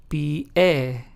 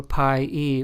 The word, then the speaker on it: pie: So therefore the word pie, which means foot in Spanish, is pronounced as pie and not pe or pie or pie, right?